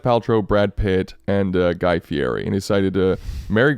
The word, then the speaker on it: Fieri: By the way, it's pronounced Fieri.